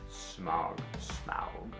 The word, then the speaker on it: Smaug: Smaug. The D is silent.